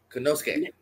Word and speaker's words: Konosuke: I always say his first name wrong. Konosuke.